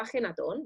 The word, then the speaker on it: Ajenatón: el mismo lugar pero ya que nosotros tenemos la jota nuestro idioma es una pena no pronunciarla entonces este señor se llamaba ajenatón vamos a quedarnos con